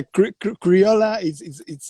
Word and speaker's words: Criolla: Yeah, Criolla it's perfect. Yeah, Criolla Okay. yeah, it's very close. You said Criolla? Criolla, yeah.